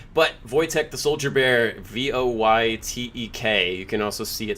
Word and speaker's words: Wojtek: first badass book but Wojtek the soldier bear vo why Tek you can also see it spelled sometimes as woj Tek which is Wojtek is how it's pronounced and